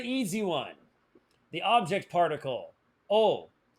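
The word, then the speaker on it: を: Oh, it's spelled whoa, but it's pronounced oh.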